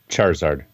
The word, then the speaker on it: Charizard: So, number three, help me out with the pronunciation here, Eric. Um Pokemon Charizard Charizard? Charizard? Charizard.